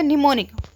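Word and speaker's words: mnemonic: जैसे हम idioms and phrase क्या निमोनिक से याद करते हैं तो इसमें एम साइलेंट हो जाएगा। तो निमोनिक नी मनी नी तो इसको मनी को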